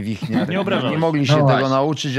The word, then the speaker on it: Wichniarek: Dziesięć lat w Niemczech mówili na mnie Wiśniarek, a nie Wichniarek.